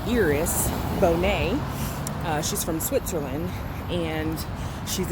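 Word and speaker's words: Iris Bohnet: no two hours it's felt like ours it's pronounced eros Bonet she's from Switzerland and she's a Dean and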